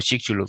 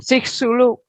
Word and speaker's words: Chicxulub: Y dicen que esto lo pronuncian como Chicxulub. Chicxulub, sí.